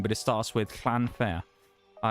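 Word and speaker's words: Llanfair: but it starts with Clanfair. Uh, it's very long or clanfire as well as is how actual Welsh people pronounce it, but I'm not from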